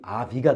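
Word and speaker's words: אבי: 아부아 아부 아버지아 아부 아부네 뒤에 유두가 봤잖아요 그럼 발음이 아비가 됩니다 아비 그래서 나의 아버지가 됩니다 그래서 아비멜렉 이름 예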